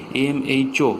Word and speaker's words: mho: এটাকে আমরা উচ্চারণ করার সময় উল্টো বলি, MHO।